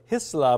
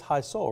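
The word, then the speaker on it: Hisle: hi Soul right yeah I was pronouncing it very germanly earlier Isla but it is high Soul right yes okay so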